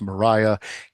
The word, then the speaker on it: Maria: book with first person Mariah WTH and we are told in her narration that her name is pronounced Mariah even though it is clearly spelled Maria I I won't go